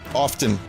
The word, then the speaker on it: often: Often. I still say often. Activating combat mode. I was told not to pronounce the T in often when I was younger.